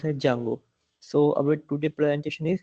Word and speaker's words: Django: Django pronounced as a Jango I sorry I a Django but that is not called as a Django that is pronounced Jango so our today presentation